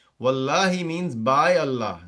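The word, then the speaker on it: والله: So that's why you're pronouncing it wallahi, not wallahu or wallaha.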